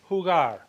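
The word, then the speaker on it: jugar: right the verb hugar that g is a hard G sound we must maintain the Integrity of the hard G sound so H do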